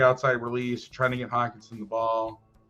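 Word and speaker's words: Hockenson: I'm going to laugh if it's Hawkerson. I'm looking this up. It's Hawkinson. Okay.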